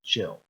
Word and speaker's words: Gilles: And I always call you Giles, and I apologize. The correct pronunciation is Gilles.